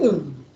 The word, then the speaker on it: ânodo: Então é cátodo e ânodo. Para mim, eu entendo que é isso, porque o acento tá nas primeiras sílabas.